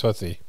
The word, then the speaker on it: Houthi: It's actually pronounced Hootie, like Hootie and the Blowfish. That's what they're saying on the news. And I said to my wife, and she goes, I think it's Houthi.